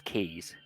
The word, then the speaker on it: quay: It's spelled quays. But it says keys.